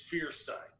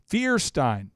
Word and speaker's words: Feuerstein: Stein Frankenstein but uh it's feierstein feierstein okay so feierstein we'll start there Mr feierstein what are your thoughts